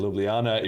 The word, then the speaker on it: Ljubljana: Imagine the Ljubljana? J's are eyes. Okay, Yes. Ljubljana. It's like Ljubljana, if the J's were eyes.